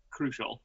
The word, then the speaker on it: Krushel: uh we've got Matthias crushel am I pronouncing that right Matthias crucial crucial see like the normal word like you're crucial to this to the life of this podcast but um oh am